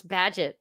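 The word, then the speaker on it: Bagehot: That was Ben Bernanki telling us how to pronounce Badget. I knew I was saying it wrong. Rewind that and like edit that out. Bad. There's not even a D in it.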